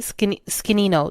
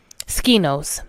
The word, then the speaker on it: Skinos: Skinino. No, it's not. That's not how you say it. Skinos.